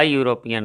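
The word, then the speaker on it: European: हैं, he married a यूरोपियन lady, है ना, यूरोपियन य से शुरू होता है उच्चारण, इसलिए है ना एन नहीं लगेगा, ए लगेगा।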